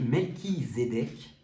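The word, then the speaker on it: Melchisédech: allez c'est R alors melchisédeek prononcé melchisédeek dont le nom signifie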